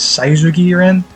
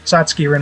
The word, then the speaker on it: Satsuki Rin: So, question is, how do you pronounce Satsuki Rin? I think this maybe is a slight mistranslation of it. Says Saizuki Rin, but Satsuki Rin is how we usually translate it.